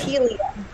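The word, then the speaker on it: Ptelea: So the P is silent. So Telea. It's Telea.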